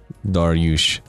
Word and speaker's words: Darius: Please don't call him Darius. I don't think we can be friends anymore if you pronounce it Darius. If you pronounce it Darius, I shall not be thy acquaintance.